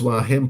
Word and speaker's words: Hua Hin: okay yeah whatever bill colley at least you pronounce why him properly uh some of the youtubers let's just